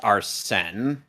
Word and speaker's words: Arsène: You think it is spelled, but it's pronounced Arsène.